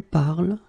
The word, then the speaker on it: parles: It's just because if you look carefully and if you listen to me, I will pronounce it je parle, tu parles, il parle, elle parle. So it does mean that even if you write them differently, E, ES, and then ENT, you will pronounce them the same way.